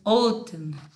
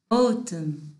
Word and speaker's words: autumn: This one is autumn. Autumn. Autumn. The N is silent.